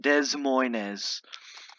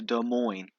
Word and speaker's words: Des Moines: i gonna get all right new virginia 10 des moines 44. when i was little i used to pronounce it des moines but no it's a des moines okay over here is the creek and this